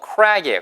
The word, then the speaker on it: crack: 크랙이 아니고요. crack이에요. crack. 입술을 모아보세요.